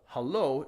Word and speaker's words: haloo: word ello there otherwise we always pronounce and emphasize the second-to-last syllable in a word so we had to split up for that reason so how low should sound like hello instead of hallo hallo yes that's me